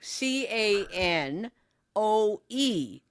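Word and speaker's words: Kinew: But I heard canoe, but it's pronounced canoe, but it's K I N E W.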